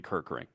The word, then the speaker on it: Kirkering: I was going to follow up and ask you like do you think and by the way pronunciation guide for MLB Orion Kirk ring we're good.